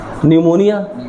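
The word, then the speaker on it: pneumonia: निमोनिया। निमोनिया का उच्चारण न से है। लेकिन उसको लिखते हैं पी एन यू ओ एम ओ एन आई ए।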